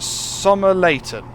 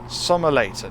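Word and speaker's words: Somerleyton: good to go it's pronounced summer Layton summer later okay look at that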